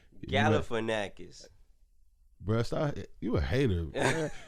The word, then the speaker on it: Galifianakis: I did, Zach Galifianakis. Galifianakis. Bruh, stop. You a hater. Anyway. It don't matter. His last name weak as fuck. Long as hell. Finakis. Sorry. It's not Finakis. Fianakis then.